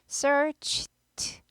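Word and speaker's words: searched: 않죠 목이 올리지 않아요 얘가 무성음이니까 얘도 무성음으로 영향을 받죠 그래서 끼리끼리 돌아야지 발음 편하다고 했어요 그래서 Search d가 힘드니까 Search Search 아니고 searcht searcht searcht 이렇게 돼요 I search archirch 그래서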